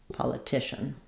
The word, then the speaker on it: politician: That letters, those letters c i say the sh sound here. And then almost no vowel, a schwah or no vowel before the end. So it sounds like politician.